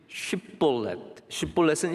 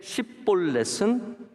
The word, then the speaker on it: 쉽볼렛: 여기 쉽볼렛은 시냇물이란 뜻이에요. 근데 십볼렛은 무거운 짐이라는 뜻입니다. 그래서 이 강가에서 쉽볼렛이라고 했을 때 발음하지 못하는 바로 에브라임 사람들을 다 잡습니다.